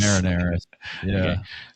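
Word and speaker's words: Marineris: the Val Marin, uh how how do you pronounce it? Marinas. Marineras.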